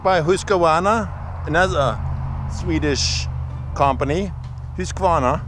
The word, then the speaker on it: Husqvarna: Husqvarna, I think that's how they say it in Sweden. Husqvarna.